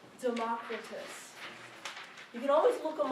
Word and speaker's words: Democritus: And this is how we pronounce them today in English. Thales, Pythagoras, Heraclitus, Democritus.